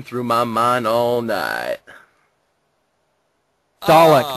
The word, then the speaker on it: Dalek: Dalek, not dialect.